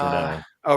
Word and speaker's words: Renault: is it uh Renault it's pronounced Ren oh Rena is it for